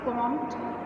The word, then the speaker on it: Comte: To keep in mind, it इज़ not August कॉम्टे। कुछ बच्चे इसको ऐसे प्रोनाउंस करते हैं क्योंकि इसकी स्पेलिंग जो है वो COMTE है, बट इट is pronounced as August कॉम्ट या हिंदी में अगस्त कॉम्ट।